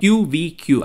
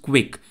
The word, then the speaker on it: QVQ: model from China Alibaba qvq I think it's pronounced quick this is a 72